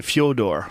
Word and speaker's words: Fedor: Russian gentleman his name in Russia they don't even say Fedor they say Fodor F milono but it's